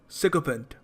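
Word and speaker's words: sycophant: देखो इस शब्द को प्रोनाउंस करने का सही तरीका है सिकोफेंट।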